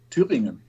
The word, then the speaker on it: Thüringen: Thüringen. Thüringen. How do you spell that?